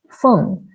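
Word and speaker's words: 鳳: wind, feng, and phoenix, feng, were used interchangeably and are pronounced similarly.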